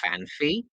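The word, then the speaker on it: Phanpy: It's fan P, only one F sound.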